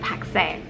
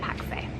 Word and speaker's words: Pakse: in a place called Pakse. It's spelled Pax, but we heard our taxi driver when we were talking to him call it Pakse, so we are saying Pakse.